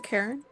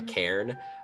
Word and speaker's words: cairn: Is this a Karen? Karen, different pronunciation. A cairn.